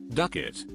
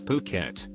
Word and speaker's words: Phuket: It wasn't until just about the end that I realized that I had been pronouncing Phuket as Duckit the entire time as I was reading my cards.